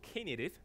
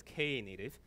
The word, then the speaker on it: Knative: have come in okay so it is called Kay native so it's ka native I know in the past people calling native